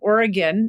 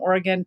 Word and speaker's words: Oregon: or think about the Oregon Oregon pronunciation so if you're from Oregon it's Oregon but if you're not from Oregon you sometimes say Oregon where it is commented